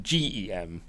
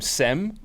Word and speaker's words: Cem: it says right it's spelt CEM but it's pronounced GE em like him and so I've been calling him SEM on the podcast and then thankfully he murmured